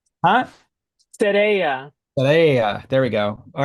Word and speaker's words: Sereia: See, I always forget how to pronounce it. Sereia. Huh? Sereia.